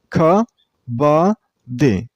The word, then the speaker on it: kabaddi: This sport has 3 syllables. Kabaddi. And you should stress on the middle syllable. I mean on ba sound. Kabaddi. The per syllable is pronounced very shortly.